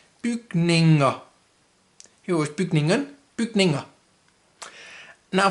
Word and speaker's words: bygninger: It's ER, which in Danish is pronounced, in this case, A. So bygninger, bygninger.